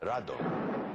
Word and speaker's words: Rodan: movie filmed in color Rodan which in Japan was called radon you know it's the Japanese pronunciation of Ron radon and when